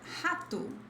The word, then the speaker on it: rato: R at the beginning of a word sounds like a throaty H, which is H, H. Then we have the word rato, rato.